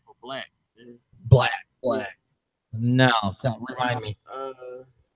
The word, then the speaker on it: 6LACK: Yeah, its name is spelled 6LACK, Okay. but his name is Black.